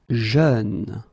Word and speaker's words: jeune: Jeune. Same thing, you don't say je, you say jeune, okay?